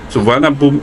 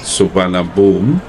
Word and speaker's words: Suvarnabhumi: Suvarnabhumi means golden land in Sanskrit, and now it's pronounced Suvarnabhumi, but yeah, most people will refer to it as Suvarnabhumi.